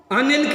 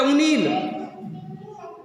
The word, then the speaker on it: अनिल: अनिल की जगह बोलेगा उनील, उनील।